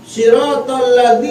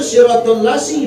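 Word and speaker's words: صراط الذين: Ada lagi ngomong siratalladzi yang benar yang bacanya siratallasi banyak sirat laadzi siratallasi bacaannya banyak jangankan perkara fatihah wallahi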